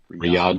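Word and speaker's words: Riyadh: Rumble and Rihad or Riad. How do you pronounce that? Riad or Rihad? Riad. Riad. Riad.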